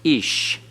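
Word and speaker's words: אִישׁ: ate ahmer he said ish notice the yode is silent it's not a y sound it's the hirik yod and so it is pronounced ish notice edits has a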